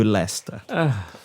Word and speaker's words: Lester: as the writer that his name be pronounced properly and that is Mo Lester carry on well shks